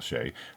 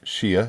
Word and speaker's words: Shea: great video talking about Michael Shay pronounced like sheay butter not Shia as I thought but sheay like the butter um and that's nif